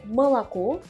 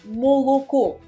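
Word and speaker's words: молоко: sans accentonique devienneent a ainsi pour le mot le lait en russe qui est malaco selon la prononciation officielle ce sera malolaco mais dans le dialecte du Nord on va prononcer Moloco en gardant soigneusement la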